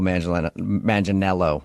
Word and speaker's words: Manganiello: Because we talked to him, and he told us that a lot of people say he looks like Joe Manganiello, right?